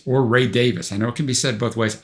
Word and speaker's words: Davies: band leader, and above all chief songwriter, Ray Davies. Or Ray Davies, I know it can be said both ways. I'm going to say Davies.